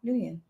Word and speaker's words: Nguyen: Nguyen. How do you say his last name? Nguyen. When? No, Nguyen.